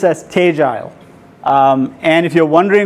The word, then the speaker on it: Tegile: there's a lot of questions on is it tal is it tedel uh it's actually pronounced as teile um and if you're Wonder wondering where we